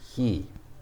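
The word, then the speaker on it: 日: it's ki okay and they is he looks like hi it's pronounced he i just said that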